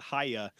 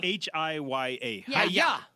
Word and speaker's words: Hiya: numbers that are scammed I don't think you're pronouncing that right Haya ha h i y Aya okay hiya you you said it like yeah ha ha yeah so